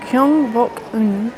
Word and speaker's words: Gyeongbokgung: I am now in the grounds of Gyeongbokgung Palace and that is how you pronounce it because I asked the information desk how you pronounce it.